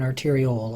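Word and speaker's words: arteriole: If I'm going to talk about an arterial, I'll make sure to really pronounce the O sound at the end so you can distinguish the words from each other.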